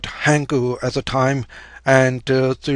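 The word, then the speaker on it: 한: out, the whole graph or the character is pronounced as hang, and this one is pronounced as gu.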